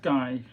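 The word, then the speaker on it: Ghey: It's pronounced guy.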